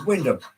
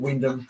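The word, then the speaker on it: Wymondham: you get to norch there's a place called Windam but it's actually spelled why mam but they all call it Windam so I called it Windom excuse me and Signal cabin greetings to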